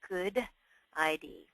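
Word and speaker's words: GUDID: It is pronounced Good ID.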